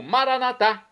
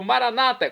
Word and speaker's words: maranata: E agora eu clamo maranatá, como dizemos nós católicos, ou maranata, como dizem nossos irmãos separados, os evangélicos ou protestantes. Não importa a pronúncia, o significado é o mesmo.